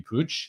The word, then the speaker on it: Puig: for the barcelona midfielder ricky puj that is how you pronounce his name uh obviously young guy